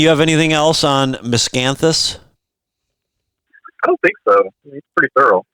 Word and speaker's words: Miscanthus: have anything else on Miscanthus Earl did I pro did I pronounce it right there was yep yeah you got it giant Miscanthus all right